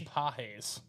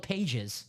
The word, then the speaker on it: Pages: Andy Pages. Oh, the young outfielder. Yep. Okay. Spelled Pages. Yeah, exactly. Yes. It's pronounced Pages, but yeah, Pages. Ronnie wants to do a diamond single.